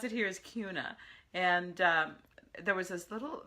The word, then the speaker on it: Kuna: kind of it's called Kuna it's spelled like tuna and it's pronounced like tuna um Siri says Kuna